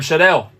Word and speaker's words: Scherdel: and only indie rock pop Legend it's Shadel you pronounced it right as well hey I was